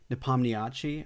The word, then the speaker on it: Nepomniachtchi: Nepomniachtchi, I think is how you pronounce it, but it took.